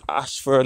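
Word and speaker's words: Ayshford: Ashford is spelled A-Y-S-H-F-O-R-D.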